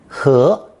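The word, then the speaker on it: 禾: We've encountered the tree and root pictograms in previous lessons, so here I'm introducing the stalk of rice radical, pronounced second tone, 和, 和, as it's another common variation of these plant elements.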